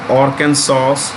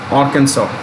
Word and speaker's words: Arkansas: an american state of arkansas the s is silent bentonville town arkansas then its ceo